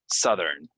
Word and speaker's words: Southern: we're gonna say Southern so it's a uh not an ow right so Southern so um I live